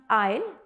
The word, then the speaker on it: aisle: Both are pronounced I'll, but for question A, which is the correct option, let's read the sentence and find out.